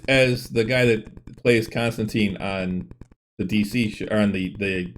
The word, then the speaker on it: Constantine: referred to by name constantine is pronounced with the last syllable rhyming with time for many fans this